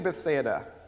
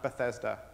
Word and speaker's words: Bethsaida: they came to bethsaida now in this very church i have heard this place pronounced many different ways and let's learn to say it right now because it's not bethesda jesus did not go to maryland this is